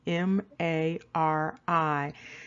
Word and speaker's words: Mari: Now, interestingly, this ancient kingdom, there's a surname attached to it, and it's Mari, the M-A-R-I.